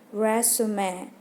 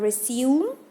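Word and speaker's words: résumé: dengan brush Sume Oke cara bacanya brush Sume Oke bukan review welcome work CV singkatannya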